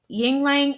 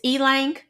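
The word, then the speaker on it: ylang: gave us a recipe Yingling and Cedar and I know I said it wrong it's e-lang is that the pronoun correct pronunciation I'm just going to say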